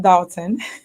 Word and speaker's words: Dolton: going bad what's going on here it's still pronounced dalton okay okay because a lot of people nowadays are calling it dawson so it's official now i'm right they're wrong